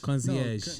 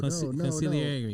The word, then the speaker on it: consigliere: Concierge. No. Consigliere.